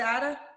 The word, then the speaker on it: Ada: How you say it? Is it Ada? Yeah, Ada.